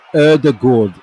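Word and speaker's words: Ødegaard: in the chat uh pronounce odegaard's name right yeah should urdergord is how it's supposed to be said er the gourd i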